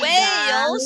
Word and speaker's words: Wales: Wales. É a mesma palavra que a gente fala para baleia, né? Whale também é baleia, só que se escreve diferente, com H.